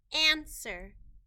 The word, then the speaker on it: answer: sound the same wood answer the w in this word is not making a sound and we need to